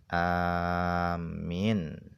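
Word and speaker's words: آمين: Qalal ulama, para ulama mengatakan afsahuha, yang paling fasih di dalam bahasa-bahasa tadi di dalam mengucapkan amin itu adalah bilmad, dengan dibaca panjang. Amin dibaca panjang. Wa takhfifil mim, dan mimnya tidak ditasydidkan. Jadi membacanya adalah amin, itu dengan dibaca panjang dan mimnya tidak ditasydidkan. Wa tsaniyatu, yang kedua adalah bil qasri, yaitu dengan dibaca pendek. Jadi membacanya tadi dibaca pendek, amin, seperti itu.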